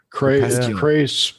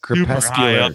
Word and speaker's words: crepuscular: Crepuscular. Yeah. I have to look it up. Crepuscular. There. I always mispronounce it and say crepuscular.